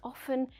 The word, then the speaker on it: often: too much i think often is a casual pronunciation of often with little effort i can slide from the o sound to the f sound to the n sound often so i use